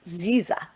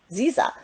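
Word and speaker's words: Szia: Now, this is how you say hello in Hungarian. It says Ziza. Did you know that? Ziza.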